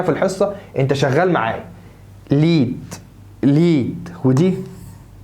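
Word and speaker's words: Lied: ليد، ليد، ودي ني، برافو عليك.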